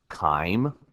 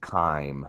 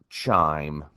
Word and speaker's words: chyme: its liquid form it is referred to as time I know it has a CH there but it is pronounced time almost as if it started with a k' so it's not chime it is pronounced time time is the result